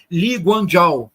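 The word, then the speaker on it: Lee: estado moderno de Singapura que se escreve eu vou mandar para vocês como se escreve mas se pronuncia li eu vou mandar aqui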